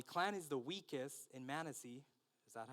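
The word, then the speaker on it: Manasseh: My clan is the weakest in Manisey." Is that how you pronounce it? Manessa.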